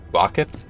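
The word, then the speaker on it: Roccat: I say Rocat. I think I've heard some people pronounce it Rocket. I mean, the logo features a cat, so I think emphasizing the cat in the name is appropriate.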